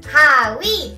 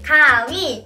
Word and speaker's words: 가위: It is pronounced as 가위. 가위.